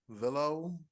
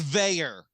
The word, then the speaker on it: Veilleux: It's spelled Veilleux. Take Villo. That's a good guess. Gotta be French. It's Veilleux. I don't get it either, but it's Veilleux.